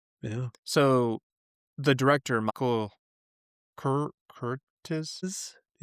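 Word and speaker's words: Curtiz: So, the director, Michael Curt Curtis.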